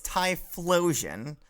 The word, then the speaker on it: Typhlosion: It's Typhlosion. There's an H in there. Yeah, it's got flow like me. Got it. You're just asking for it, aren't you? But yes, it's Typhlosion.